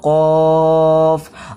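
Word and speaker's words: ق: তিন দেওয়া রয়েছে তার জন্য তিন আলিফ টান দিয়ে পড়বো কফ।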